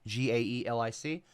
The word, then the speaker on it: Gaelic: in Scottish Irish galic G AE l i c and then Scots garlic it's like kind of like you're saying garlic without the r Gaelic and Golic um